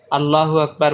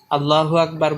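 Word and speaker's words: الله أكبر: এটাকে তাকবীরে তাহরিমা বলে আল্লাহ এবং আকবার শব্দ দুটির আলিফে জোর দিয়ে উচ্চারণ করা এবং হা কে সামান্য টানের আভাস দিয়ে উচ্চারণ করা উত্তম হাত উঠিয়ে কানের লতির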